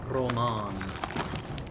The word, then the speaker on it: Roman: We've definitely got to get some kind of weapon for Roman. Roman. It really just depends on where you put the stress. I'll probably use both pronunciations.